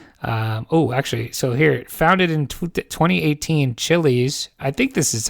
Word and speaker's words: Chiliz: So here, founded in 2018, Chiliz. I think this is how you say it. CHILIZ. CHILIZ. Yeah. Yeah, Chili's.